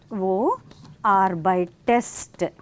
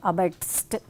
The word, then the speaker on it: arbeitest: Here we have an extra e because arbeit, then we cannot say arbeitst. So when there is a t ending, then that e comes for the yeah, easy pronunciation.